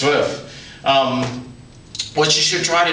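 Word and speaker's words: zwei: swi almost like TS V RF but it's pronounced swi um what you should try to do in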